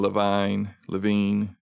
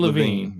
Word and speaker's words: Levine: Judas being created by creative director Ken Levine. I don't know how you say it. Ken Levine.